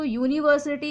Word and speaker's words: university: So university is also starting with U, but the sound is Y, year sound.